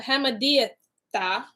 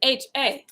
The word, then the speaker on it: Hammedatha: Howbeit Haman, the son of the son of Hamadiathah, that name is Hammedatha.